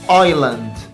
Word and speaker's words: island: اللي بعده I زي island. الاس هنا silent يعني تكتب ولا تنطق، حرف يكتب ولا ينطق.